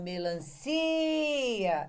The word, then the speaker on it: melancia: Veja, ou melancia é o si que tem o som estendido.